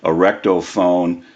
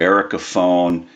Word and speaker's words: Ericofon: that this really cool a recto phone or Erica phone people pronounce it differently it's a North electric